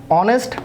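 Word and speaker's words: honest: ব্যাখ্যা করা যাক দেখুন এখানে লিখেছি একটা ফ্রেজ অনেস্ট ম্যান এই যে এখানে অনেস্ট আবার দেখুন এখানে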